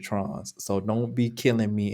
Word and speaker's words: Tronnes: David Trons, now his last name is spelled Tronnes. I don't know if that's Trones. I'm going to pronounce it Trons.